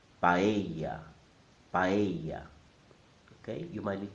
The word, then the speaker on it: paella: The correct pronunciation is in 3 syllables. Pa, e, ya. The stress is on the E sound. So I'm going to say it 3 times. Paella, paella, paella.